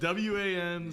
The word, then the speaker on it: Wan: One, and it's spelled W-A-N.